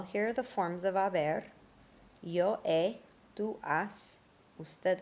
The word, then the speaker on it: haber: Well, here are the forms of haber. Yo he, tú has, usted, él, ella, ha, nosotros hemos, vosotros habéis, ustedes, ellos, ellas, han. Remember not to pronounce the H.